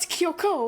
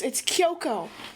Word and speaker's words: Kyoko: But is it not Kyoko? Oh, man. No. It's Kyoko. You put the enunciation on the first O, not the second one. Kyoko.